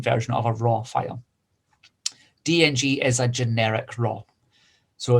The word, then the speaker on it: DNG: I've got a copy as a DNG, okay, or as a lot of people pronounce it, it's just a DING file, DNG file.